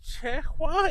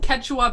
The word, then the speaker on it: Quechua: It's pronounced Quechua because that's how she spelled it the first time.